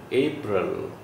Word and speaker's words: April: Rel, not real. April. April.